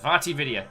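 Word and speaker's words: VaatiVidya: One of my favorite peeps, who I can never pronounce, Vatividya. Vatividya.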